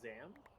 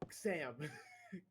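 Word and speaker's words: Xam: But I say Zam. Did you say Zam? Yeah, Zam. Like, cause usually when you see an X in things, it's usually pronounced as a Z. I was reading it as like Sam.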